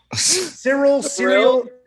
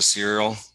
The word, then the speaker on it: Ciryl: Ciryl. There's a Y and an L. I mean, the C is a S instead of a K. This is ridiculous. So you just went to Ciryl?